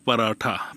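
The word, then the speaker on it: पराठा: পরেরটা শব্দ হচ্ছে পরোটা পরোটাকে হিন্দি বলে পারাঠা পা রাঠা আমরা ট উচ্চারণ করি তারা ঠ উচ্চারণ করে ভাত অথবা চাউল চাউলকে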